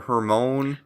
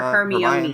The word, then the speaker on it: Hermione: I think I called her in my brain Hermione or Hermone. My friend called her Hermione. Hermione.